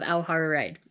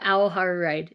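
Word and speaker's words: Aoha Ride: the final volume of auhara ride i keep trying to say it wrong but aohar ride is how it's pronounced the ending of this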